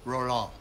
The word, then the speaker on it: Roland: And my name is actually pronounced Roland. And if there's anything you need, please tell me. Room service, turn down service, valet service. Okay, Roland, those are a few items that might be